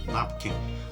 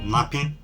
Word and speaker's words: napkin: n and Silent napkin napkin but back then it was nappin nappin that we used to pronounce and then but the word actually is napkin that's that number 10